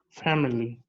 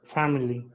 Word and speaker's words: family: you pronounce this word family say it again family say it again family okay let me tell you something the letter i is not pronounced so this word has only two only two syllables not not only no